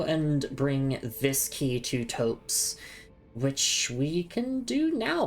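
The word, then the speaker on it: Thops: So, we can give that to Tops or Topes. Topes is how you say it.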